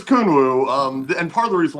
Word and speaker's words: Kunwu: on Kunwu stuff, and some people are pronouncing it Conwoo, but Huh? I'm pretty damn sure it's Kunwoo.